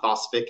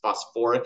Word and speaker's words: phosphoric: it's sulfuric acid right sulfuric and phosphoric are the ones that are slightly Irregulars you throw that extra syllable back in there it's not phosph acid it's phosphoric acid even though it's phosphate